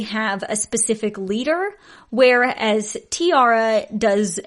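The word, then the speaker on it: T-ara: Now, let's talk about a girl group named, I think it's Tiara. It's spelt T-A-R-A. So I think it's Tiara, like a tiara, like a crown.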